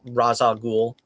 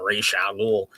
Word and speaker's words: Ra's al Ghul: There was also a viral video about a week ago where Denny O'Neil, the legendary creator of Ra's al Ghul, pronounced it more like Ra's al Ghul.